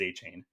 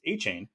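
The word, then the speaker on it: Achane: in parenthesis right so that means that when Devon aan first joined the Dolphins he pronounced it as aan and when he was in college he told people that he was aain because he went by aain all through college so for some reason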